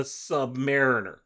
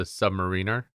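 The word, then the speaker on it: Sub-Mariner: read it as the Submariner. And when somebody said it out loud as a Submariner, I was like, what is wrong with you? What? Why are you putting the emphasis on the wrong syllable?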